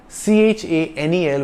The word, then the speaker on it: Chanel: English word channel it's c-h-a-n-e-l with a single n and it's pronounced Chanel because CH is pronounced like sh in French Chanel is a French